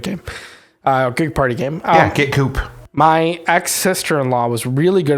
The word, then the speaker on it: Coup: I believe that's pronounced Coop, but yeah.